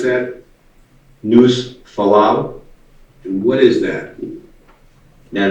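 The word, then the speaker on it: Nușfalău: And how do you pronounce that? News Falau.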